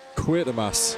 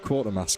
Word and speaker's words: Quatermass: It's actually Quatermass. There's no R. There never has been. It's like the Mandela effect. You think it's one thing and it's not. Quatermass Motorsports, not Quartermass. Can you believe it?